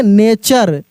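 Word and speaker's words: nature: चक के जैसे एन ए देखिए टी के तुरंत बाद क्या है? यू है। आर ई क्या पढ़ेंगे? नेचर एन ए टी यू आर ई नेचर एफ यू टी यू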